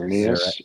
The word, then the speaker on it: Xerneas: Sorry, you're gonna have to help me with those pronunciations again. Xerneas and Yveltal.